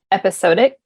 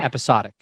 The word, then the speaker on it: episodic: Should I continue to make it more episodic? Is that the right word? Yeah, I think they don't pronounce the O hard, but yes, okay. Episodic.